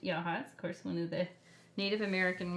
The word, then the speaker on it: Yachats: town called Yachats and it looks like it's spelled like yeah chats but it's actually pronounced yaha one of the Native American words actually don't